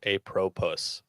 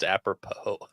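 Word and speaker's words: apropos: read Malcolm X's autobiography he uh he pronounced apropo a propus yeah I thought that was just a different version of the word I think it's just aopo Oh either way but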